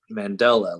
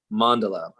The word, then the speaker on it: mandala: how to pronounce it at first I thought it was like Mandela like Nelson Mandela or something but mandala I had to look